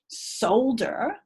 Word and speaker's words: solder: give you a clue it begins with soul sold when you sold her something see how the pronunciation changed slightly solder yeah i can see